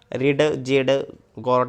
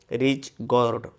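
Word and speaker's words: ridge gourd: थोडी डिफरन्स आहे मित्रांनो डी हा इथे सायलेंट आहे रिड जेड गॉड असं काही म्हणू नका तर याची स्पेलिंग काय आहे रिच गॉड ओके प्रोनाऊन्सिएशन करताना व्यवस्थित करायचं रिच रिच गॉड रिच गॉर्ड रिच गॉर्ड म्हणजे दोडका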